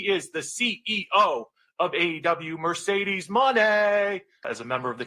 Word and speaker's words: Mercedes Moné: She's a future uh she make sure you say it right. It's Mercedes Money.